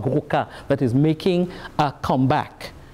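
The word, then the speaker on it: gwoka: begin but there's also very traditional music called guruka that is making a comeback and they laugh at me about my pronunciation of goku because they because it's g-w-o-k-a and i'm supposed to say voca and i don't pronounce it very well i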